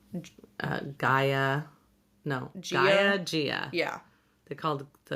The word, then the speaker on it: Gaia: learned the audiobooks are not always right in pronouncing things. Like in Percy Jackson when they called, Gaia. No. Gia? Gia. yeah. They called the Gaia, which is Mother Earth, Gia.